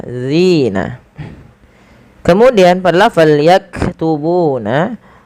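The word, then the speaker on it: يكتبون: Kemudian pada lafal yaktubuna, huruf kaf yang berharokat sukun, hati-hati di dalam melafalkannya, jangan sampai terpantulkan. Contoh, yakatubuna itu memantul.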